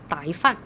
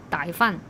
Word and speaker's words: 歹饭: 傣饭就是那种歹徒的歹，那个发音，傣饭了啊，傣饭了啊。